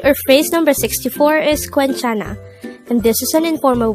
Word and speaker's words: 괜찮아: younger than us the word quenchana could be divided into three syllables queen is formed from the combination of the sounds of kyok but take note that where is formed with a combination of the sounds of o and a so it's like which gives up the sound the next syllable